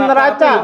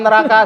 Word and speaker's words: neraca: Gua dikuliahin di sini hutang pasif hutang aktif gitu sampai bikin neraca. Bukan neraka surga ya. Neraca neraka jahat. Neraca neraca kali. Iya neraca ya. Ya kan bacanya C kan Kak kan ujung-ujungnya akuntansi